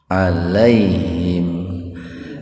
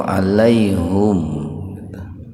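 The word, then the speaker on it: عليهم: Bert wawu buah tafhim alaihim ada yang membacanya itu alaihum kalau alaihum itu qiroahnya qiroah Hamzah itu pak jadi ada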